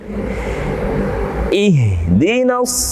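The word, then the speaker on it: اهدنا: Jadi harus jelas, tidak boleh kita membacanya dengan tipis seperti ihdinas sira kurang jelas. Harusnya ihdina.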